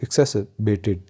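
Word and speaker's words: exacerbated: तो जब आप आर पे जाते हैं तो इसको थोड़ा सा आपने रीड भी करना है, जैसे एक्सेसबेटेड, तो इस तरह इसकी प्रोनाउंसिएशन होगी एक्सेसबेटेड, यानी कि किसी चीज़ को कम करना, बुरा हाल होना।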